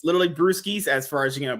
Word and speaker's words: Brewskys: I read your name I thought he you pronounced it brosis you know oh yeah right but no it's literally brusis as far as you know brewery beer all